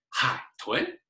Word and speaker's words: 海豚: 海豚, now again, that's a third tone going into a second tone. So we say 海豚, 海豚.